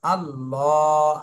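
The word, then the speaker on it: الله: মোটা করে পড়তে হবে আল্লাহ শব্দের লামকে মোটা করে পড়তে হবে এরপরে লামের উপরে খাড়া জবর রয়েছে মদের হরকত এজন্য এক আলিফ টান দিতে হবে তাহলে প্রথমে মোটা করে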